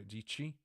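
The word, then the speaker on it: Dietschy: Do you know there is a YouTuber which is called Sarah Dici? Rhymes with peachy, apparently.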